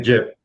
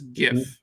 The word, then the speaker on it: GIF: When they ask the guy who created it how you should say, he goes GIF, like the peanut butter.